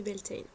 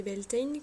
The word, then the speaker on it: Beltane: Ce sabbat porte plusieurs noms, donc le nom le plus connu c'est Beltane, qu'on peut écrire Beltane ou Beltane avec AI, mais les deux orthographes de toute façon se prononcent de la même façon.